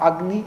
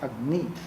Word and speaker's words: Agni: Do you say Agni or Agni? No, it is not Agni, it is Agni.